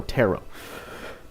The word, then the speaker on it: Tarot: Tarot? No, Tarot. How do you say it? Tarot reading.